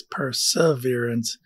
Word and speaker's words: perseverance: the way in perseverance a lot of people put an r in the middle there's no r in the middle so it's perseverance but it's pronounced perseverance